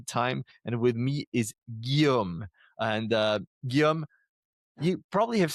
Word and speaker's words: Guillaume: But it's like a G like guitar and yum like yummy. Guillaume.